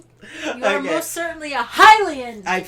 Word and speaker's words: Hylian: You are most certainly a Hylian. I mispronounced the word Hylian and it gets on Carmen's It drives nerves. me crazy because how hard is it to figure out that it's pronounced Hylian?